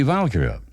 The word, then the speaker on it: Valkyrie: the trilogy begins with the valkyrie which he pronounced with the accent on the first syllable then came the Young